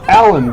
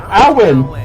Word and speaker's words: Alwyn: because it should it sounds like it should be pronounced allen but no they're going alwyn alwyn oh no see now